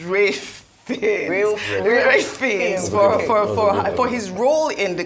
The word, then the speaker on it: Ralph Fiennes: You know, I actually only realized how to pronounce Ralph Fiennes. I thought it was Ralph Fiennes my entire life. She was the actor in the film. So just for the correction, is Ralph Fiennes for his role in the Conclave was brilliant, really.